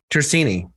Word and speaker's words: Tersigni: Tercini, by the way, her last name. I think I pronounced that right. You did. Yes. Tini like no G.